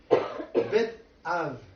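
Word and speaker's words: בית אב: Donc, avec la prochaine image, Bet Av. Donc, même si c'est un B, ça se prononce Bet Av.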